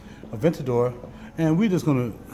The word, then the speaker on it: Aventador: This car is, read it for yourself because I don't want to mispronounce it. And not the Aventus, okay? It's the Aventador. Aventador.